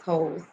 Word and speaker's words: Hose: when I say that, it really is Hose, not Hose as HOE, guys, but yeah, Hose. um, as in you go in your backyard and you have a hose attached.